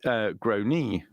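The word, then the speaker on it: Gráinne: anyway, I said, well, in Ireland, they typically pronounce it Grony.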